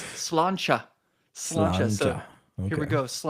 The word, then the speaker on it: Sláinte: which is uh crap, it looks like Slante, but it's not that. It is pronounced. It is. Oh, it's Slancha.